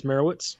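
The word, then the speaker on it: Meyerowitz: I believe it's Merowitz.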